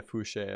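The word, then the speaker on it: Fousheé: Yeah, Fouché, I believe, because it's got the little accent mark up on the E.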